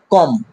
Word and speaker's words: comb: COMB, কম, কি বন্ধুরা?